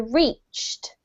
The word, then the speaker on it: reached: Okay, so the first one is this one here, reached. Reached, one syllable.